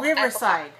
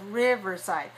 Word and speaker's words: Riverside: okay good three syllables riverside where is the stress in this word one the first one three dash one exactly first so three one riverside right it's in